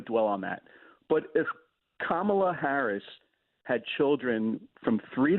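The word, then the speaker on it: Kamala: you whoever you support her name is kamla just think of the name Mom it's bad it's my bad I don't want to dwell on that but if kamla Harris had children from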